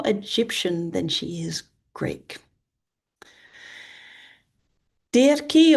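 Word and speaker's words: Dirce: Di or Dury. Um, D I R C E. I think that might be Dury.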